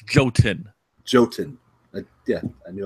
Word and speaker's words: Jotun: let's not forget that joltin I'm probably from now there's no L it's goat in Jotun I did I